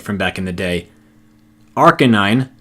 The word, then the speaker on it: Arcanine: little bit of time to talk about the pronunciations I did happen to get right from back in the day. Arcanine, not Arcanine.